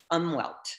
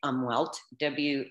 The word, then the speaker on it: Umwelt: So today's topic is going to be on what's called umwelt. Well, Americans say it umwelt, U-M-W-E-L-T. It's developed by a German scientist, so probably pronounced Umwelt.